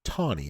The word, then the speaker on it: Taney: Taney, or Tawney as it's pronounced, was a southerner, and